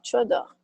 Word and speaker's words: tu adores: J'adore, tu adores. J'adore l'aspect technique. Je repars. Seria verbo réparer. Réparer. É reparar, né? Então fica je repars. Pega a raiz, né? E boto no tu. Como é que fica? Tu repars. Ok? Je repars, tu repars. Pronúncia igual, muda a escrita.